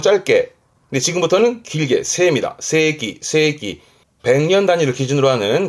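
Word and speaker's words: 世紀: 발음은 세기. 조심할 건 이때 발음은 길어요. 지금까지 발음은 전부 짧게. 근데 지금부터는 길게. 세입니다. 세기.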